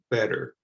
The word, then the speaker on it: better: sound better better better you don't hear the t at all when i pronounce that better it's just like this other series of words wetter matter and butter so you can get